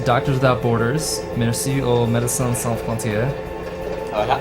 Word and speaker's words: Médecins Sans Frontières: Merci aux Médecins Sans Frontières. What's the correct way to pronounce the French name for Doctors Without Borders? That's Médecins Sans Frontières.